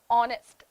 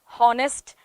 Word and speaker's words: honest: receipt buffet and bokeh these are the words this is how we pronounce it in english but what happens is when you speak it in in malayalam uh automatically you start pronouncing all the letters we start saying honest